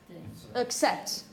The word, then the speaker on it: accept: How many syllables do you have? Two syllables. Which is the stressed one? Second one. The second one. So the first syllable, you're tired. Accept. You throw all the emphasis on the second one, which is the stressed one. So the first one is accept. Accept.